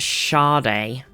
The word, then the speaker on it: Sade: It's pronounced Sade. Is it? It's kind of weird. Doesn't make any sense with how it's written, but sure, we'll go with it.